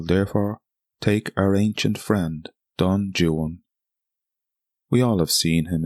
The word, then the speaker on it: Don Juan: course I'm talking about Don Juan or Don Jan as he would have pronounced it and not to be obtuse it's easier to rhyme words in English with jwan than Juan I want a hero